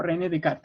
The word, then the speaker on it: René Descartes: El origen de la razón aparece con este filósofo que se llama René Descartes. O René Descartes en realidad. Como se pronuncia.